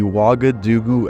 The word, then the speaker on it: Wagadu: The Wagadu Axman. Yeah, that's how you pronounce that.